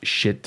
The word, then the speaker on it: Schiit: And then I drive these headphones with a Shit Valley headphone amp. And that's really the way you pronounce it. It's SCHIIT, shit.